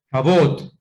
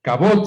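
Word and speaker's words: כבוד: Cabot. Cabot se dice de esa manera. Así es Sajot Gabriela, mire, Sajot Gabriela está estudiando hebreo también. Se dice Cabot. Cabot de la Adonai es gloria al soberano. Cabot de la Adonai, Yahweh.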